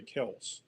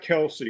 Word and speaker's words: Kelce: It's not Kelsey, it's Kels.